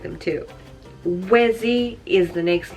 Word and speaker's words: Wezi: Wezi is the next name, which is W-E-Z-I.